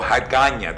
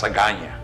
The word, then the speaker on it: Agana: has a capital name Agana or Hagana depending on how you pronounce it but basically at that time it was known as Agana and there was a